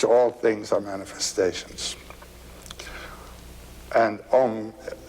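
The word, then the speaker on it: Aum: And Om, it's a wonderful word. It's written A-U-M. You start in the back of the mouth, ah, and then oo, you fill the mouth, and closes at the mouth.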